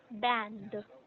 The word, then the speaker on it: banned: Um, we don't pronounce ED, which is the past tense, or in the past form, it's band.